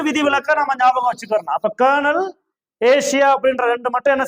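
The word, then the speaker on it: colonel: சோ இது வந்து விதிவிலக்கா நம்ம ஞாபகம் வச்சுக்கணும் அப்ப கர்னல் ஏசியா அப்படின்ற ரெண்டு மட்டும் என்ன செய்யணும் ஞாபகம் வச்சுக்கணும்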